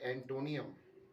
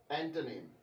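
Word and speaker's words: antonym: जो सही प्रोनाउंसिएशन है साइनोनियम की वो है सिनोनिम, और एंटोनियम की एंटोनिम। जी, साइनोनियम नहीं सिनोनिम, और एंटोनियम नहीं, ये होगा एंटोनिम्स।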